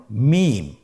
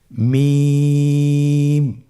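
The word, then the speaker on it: ميم: মিম। হরফটির নাম কি? মিম। মিম হরফটি উচ্চারণের ক্ষেত্রে অবশ্যই বারিক হবে, পাতলা হবে এবং তিন আলিফ টেনে উচ্চারণ করতে হবে। আমার সাথে আরেকবার চেষ্টা করুন। মিম আবার বলুন মিম হরফটির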